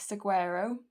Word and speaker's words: Saguaro: Louise cut crease brushes, and I'm going to pick up the shade Big Saguaro, that's how you say it, and I'm going to start by using this dry.